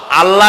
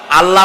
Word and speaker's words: আল্লাহ: আল্লাহ বলেন তো আল্লাহ নয় কিন্তু আল্লাহ হচ্ছে অশুদ্ধ শুদ্ধ হচ্ছে আল্লাহ বলার সময় মুখটা গোল হয়ে যাবে বলেন তো সবাই উচ্চারণ